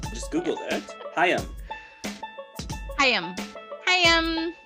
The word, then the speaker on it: HAIM: HAIM. HAIM. HAIM. It's so weird saying HAIM.